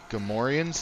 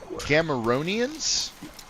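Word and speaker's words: Gamorrean: Uh, you know, I think Gammorans is the actual pronunciation, the the pig creatures from Star Wars. At some point, I misread them as Gamaronians. Gamaronians, which is just absolutely not even close, and I was calling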